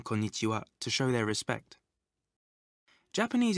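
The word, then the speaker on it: こんにちは: not affect its meaning if you find it difficult to remember this new word try saying corn itchy Wow quickly think of corns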